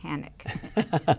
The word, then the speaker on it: Hanek: SharonHanek, as in don't panic, vote Hanek.